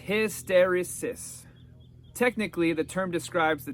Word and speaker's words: hysteresis: run up against the phenomena phenomenon of hysteresis pronounced hysteresis technically the term describes the tendency of materials